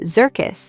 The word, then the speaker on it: Zirkus: If you caught the word Zirkus in the company name and tried pronouncing it out loud, you probably landed on circus.